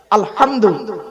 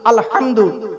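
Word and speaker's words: الحمد: উচ্চারণ করে নিন মুরুব্বরা আলহামদু আলহামদু এ গলার ভর থেকে উচ্চারণ করবেন আলহামদু আলহামদুলিল্লাহ মানে হচ্ছে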